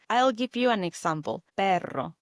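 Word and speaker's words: perro: Pero, the word for dog. This is a spelled P E R R O. Notice how I roll the now.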